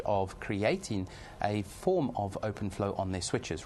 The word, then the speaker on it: OpenFlow: on on 25 of our switches we support open Flow as well as other vendors that support open